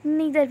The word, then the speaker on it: neither: आइदर को हम ईदर भी बोलते हैं एंड नाइदर को हम नीदर भी बोलते हैं। दोनों उच्चारण बिल्कुल सही हैं।